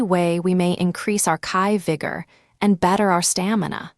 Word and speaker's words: chi: In some practices of medicine, energy is known as chi, pronounced kai.